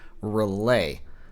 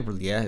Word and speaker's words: R'lyeh: today on Early Age Relay, which is, or Relais, however you'd like to pronounce that. Probably Relais is more accurate.